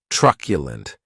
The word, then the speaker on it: truculent: the next adjective is truculent and this word has three syllables and the stress is on that first syllable keep in mind that